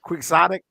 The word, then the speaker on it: quixotic: Quixotic, like we're Don Quixote.